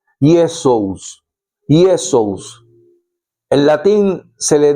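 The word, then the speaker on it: Iesus: Así que es que Jesús está escrito en griego, se llama o se dice o se pronuncia Yesus. Yesesus. En latín se le dice Yesus.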